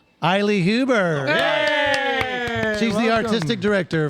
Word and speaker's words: Aili: Small So I want to introduce Rhymes with Smiley, Aili Huber.